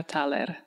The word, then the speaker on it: Taler: know you as toer but it's just so beautiful can you tell us again well I come from Romania and in Romanian you would pronounce my name taler lovely and my last